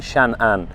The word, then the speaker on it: Changan: will today review the Changan CS 95 that is made by Changan. The correct way to pronounce it in Chinese is Chan Ann Which means safety always.